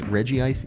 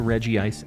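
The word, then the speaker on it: Regice: is a thing bro says Reggie ice even though it's spelled reg ice see I used to say reg ice everybody got mad at me so now I'm back to Reggie ice I'll change it back to re ice for a little bit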